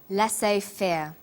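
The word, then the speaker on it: laissez-faire: he uses the phrase lass Fair lass fair is a borrowing from French it closely reflects the pronunciation of the original language and the original spelling do you know the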